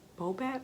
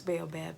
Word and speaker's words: baobab: be saying it wrong it might be bow back or i think it's baobab though baobab and baobab oil